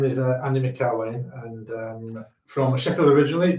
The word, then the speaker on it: McElwaine: you're gonna have to you're gonna have to pronounce it yourself I think yeah my name is uh Andy mccarway and um from Sheffield originally but live down